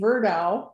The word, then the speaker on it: Verdow: anybody with the name verdow i know him i'm related to him and the easiest way to remember my last name is that it rhymes with her cow mdsva was created 55